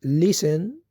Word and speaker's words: listen: with your friends and the t in listen is silent.